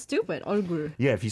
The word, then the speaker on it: 얼굴: 그 얼굴, 이 얼굴 완전 다르잖아.